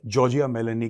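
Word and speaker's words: Giorgia Meloni: ने क्या बोला है ठीक है ये तो जॉर्जिया मिलनी मिलनी this is हाउ you pronounce the name जॉर्जिया मेलेने इसका बड़ा एक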